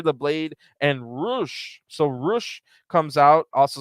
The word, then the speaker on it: Rush: making their trio's debut it will be the butcher the blade and roosh so roosh comes out also spelled rush but pronounced rush